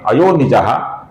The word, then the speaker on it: अयोनिजः: और फिर अंतिम नाम है अयोनिजः, जिसमें नि ह्रस्व है, इसका भी हमें लघु छोटा ही उच्चारण करना है दोस्तों।